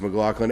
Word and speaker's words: McLaughlin: But yeah, I think technically it's pronounced McLaughlin.